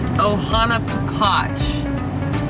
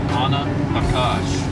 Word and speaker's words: Ohanapecosh: I was saying it wrong. It's Ohanapecosh, right? Ohanapecosh.